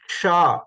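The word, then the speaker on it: क्ष: The ksha. Ksha is a samyukta akshani.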